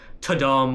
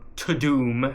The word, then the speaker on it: Tudum: The whole Tudum, or Tudum, as Netflix now pronounces it, is from House of Cards.